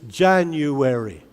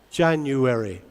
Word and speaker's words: January: good good ok so in English where is the stress the first syllable in Spanish where is the stress the second syllable so is it the same or is it different it's different am i speaking Spanish